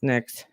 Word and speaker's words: NYX: I know some people don't know it's pronounced NYX, but yeah, I would say Morphe, Too Faced.